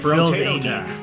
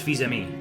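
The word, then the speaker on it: Fils-Aimé: It looks like Phil's Amy. His name looks like Reggie Phil's-Amy, but it's Fils-Ami.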